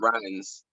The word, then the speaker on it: Ryines: Is that Ryines? How do you pronounce it? Ryines. Right. Say it again. Ryines. Ryines, Ryines, just like it sounds, but with a Y.